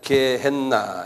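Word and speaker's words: Gehenna: G e h n 한번 발음해 보실래요? 개했나?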